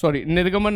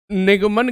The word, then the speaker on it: निगमन: ठीक है, न्याय निगमन निर्गमन नहीं, निगमन कहते हैं, न्याय निगमन कहते हैं।